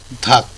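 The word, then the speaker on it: 닭: তো রিউল এবং গিয়ক থাকলে রিউলটি উজ্জ্ব হয়ে যাবে এবং উচ্চারণটা হবে হল ধাক হচ্ছে মুরগি।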